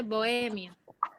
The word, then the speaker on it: bohemio: de bohemia en like no se dice yo me voy mío ni bohemio se dice bohemio la fuerza de pronunciación es tan grave porque a fuerza de pronunciación está en la penúltima sílaba y no se no